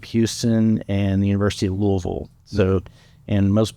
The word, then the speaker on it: Louisville: Louisville so and most people pronounce it Louisville but if you're from Louisville you say Louisville sure just Louisville that's how you wean out the that's how you know who the the real louisvillians are so yeah I uh